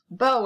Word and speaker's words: beau: Beau is a simple word. It means boyfriend. And again, that's pronounced beau, kind of like B-O-W, but it's B-A-U.